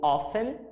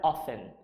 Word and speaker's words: often: aqui na quarta frase Children often ou often a gente pode pronunciar essa palavra a dessas duas formas tá a mais comum é often vou repetir vou recomeçar